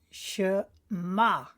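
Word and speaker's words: שמע: do our liturgy and it's read as shi ma as you'll notice this is silent so we go ma so when we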